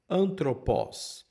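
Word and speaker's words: ἄνθρωπος: O primeiro que nós temos aí é antropó. Esse não é aspirado, a gente simplesmente pronuncia o alfa direto aí com esse som de a.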